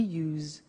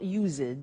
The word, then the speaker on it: used: don't have now we use used to look at the spelling s it's it's u e d and then t o but the pronunciation is not used it's us unusual used okay so